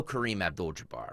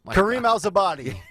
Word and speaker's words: Kareem Abdul-Jabbar: We all know Kareem Abdul-Jabbar, right? One of the great Laker legends. Yes. Joe Biden tries to pronounce Kareem Abdul-Jabbar.